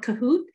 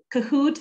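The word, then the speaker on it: Kahoot!: end i like to use a game called kahoot it's called kahoot and it's spelled k-a-h-o-o-t exclamation mark so what i like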